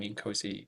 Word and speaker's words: INCOSE: So OpenAI has access to it, and it's absolutely capable of guiding the users following Incosi practices. I'm glad you pronounced that properly, Louis.